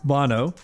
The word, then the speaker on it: Bono: Do I pronounce it right? Yes. Bono.